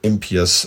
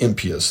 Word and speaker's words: impious: That is the way Americans pronounce it, and how I've pronounced it my whole life. The Brits pronounce it impious, which kind of makes more sense because it sounds like pious, impious, but I did just